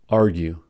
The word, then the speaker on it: argue: prologue fatigue in argue however UE has the vowel pronunciation these words have the vowel sound with u e argue fondue miscue a crew